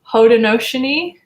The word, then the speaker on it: Haudenosaunee: to try my best, but it's pronounced Haudenosaunee woman, I think, right? I'm like ballpark, at least.